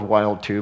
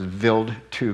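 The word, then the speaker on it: Wild 2: of the build to it's spelled wild too but it's a German so it's veiled to comet in 2004 brought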